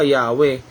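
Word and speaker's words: Yahweh: Sabi ng modern English translation, Yahova daw po. Pero alam niyo po bang sa original Hebrew language hindi po to mabigkas-bigkas nila. O sa mababaw na translation ng iba Yahwe.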